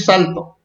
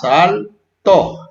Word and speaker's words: saltó: Si le ponemos así va a decir salto, pero hay que ponerle acento para que diga saltó, porque recuerden que se divide en sílabas, saltó.